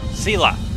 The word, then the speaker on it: Sela: I know how to pronounce her name. What was that? Sela.